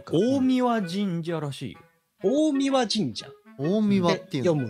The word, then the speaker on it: 大神: ほどねらてもこう神神社らしい大神神社大神って読むんだへー選べたら